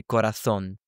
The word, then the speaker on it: corazón: Or for example, heart is corazón, they might say corazón. I personally prefer pronouncing the Y's and the double L's, so the Y sound, like a J.